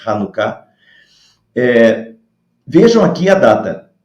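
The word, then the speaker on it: Hanukkah: se escreve com h às vezes se escreve com ch por causa da pronúncia do hebraico é hanuká eh vejam aqui a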